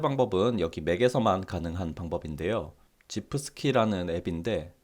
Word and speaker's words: gifski: 지프스키라는 앱인데, 이걸 지프스키라고 읽어야 할지 뭐 GIF 스키라고 읽어야 할지 저도 확실히 모르겠는데, 일단 저는 지프스키라고 칭하겠습니다.